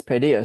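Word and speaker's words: paideia: I'm going to check how to pronounce that. It's padia.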